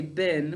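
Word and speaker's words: been: so which let's see we say bean to spell it we say bin when we're speaking which of my phonograms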